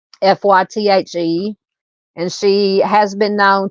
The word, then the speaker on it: Faith: She goes by her middle name Faith, which she pronounces Fythe, Fythe, and she has been known to dye her hair different colors.